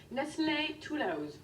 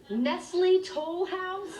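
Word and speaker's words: Nestlé Toll House: said she got the recipe from her grandmother nestle tulaos what was her name nestle tulausa nestle toll house you americans always butcher the french language baby is this the recipe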